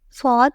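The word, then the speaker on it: ص: Fad has no dots and is an emphatic version of Sin. It has a deeper, more forceful quality, almost as if you're pronouncing Sin with extra pressure.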